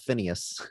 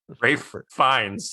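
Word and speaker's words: Fiennes: Reeves all the time maybe second to Ralph Phineas but Raph finds yeah yeah yeah that guy maybe he gets mispronounced more but the amount of times I've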